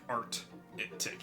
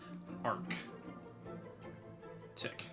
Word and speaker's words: Arctic: I always spell it like Art-Tick instead of Arc. Tick.